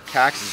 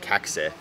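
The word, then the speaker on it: Kaxe: have in stock are cax Z's so the cax I believe it's actually pronounced like caxa if you technically are Swedish but the cax is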